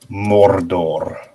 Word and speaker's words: Mordor: So this is the word Mordor. It's the only time Wait. Okay. you have to roll your R's.